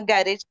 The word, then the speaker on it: garage: it creates different sounds in a garage first G is a g and then J second G is a j and also Sunday s